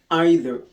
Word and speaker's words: either: We pronounce either in the American English but we pronounce either in the British English either.